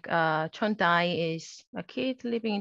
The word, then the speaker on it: 촌다이: But like people from Jeju, you know, like they pronounce it as dai, not 촌아이, but 촌다이. Okay.